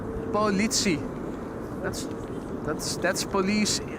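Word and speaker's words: politie: Steven wonders how to pronounce police in Dutch. That's Politi. Politi that's that's that's police pronounced in Dutch.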